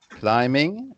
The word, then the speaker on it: climbing: Climbing. You don't pronounce the B. It's a silent B in the middle.